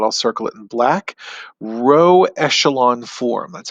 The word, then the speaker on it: row echelon form: me circle it i'll circle it in black row echelon form that's how you pronounce that and the row echelon form is